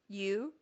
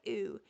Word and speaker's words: ewe: Ewe? Ewe. I put it in parentheses. I put it in parentheses after I spelled it, pronounced ewe, cuz I knew that Breanna would say ooh and I did.